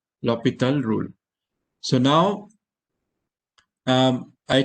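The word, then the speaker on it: L'Hôpital: and that is lopita rule okay we sometimes pronounce this as l hospital rule but actually this is l hospital was a french mathematician and this is pronounced as lopital lopital rule so now um i take the derivative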